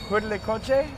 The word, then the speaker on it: Huitlacoche: Huitlacoche?